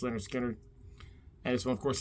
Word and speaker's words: Lynyrd Skynyrd: really like them all but it's actually debut pronounce Leonard Skinner and this one of course that's Freebird the